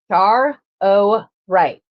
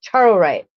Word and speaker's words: charoite: I don't know if there are AI voices or whatnot, but they all say that this is stone is pronounced char o right. So charite. If I say it wrong, please forgive me cuz uh I'm trying to figure it out.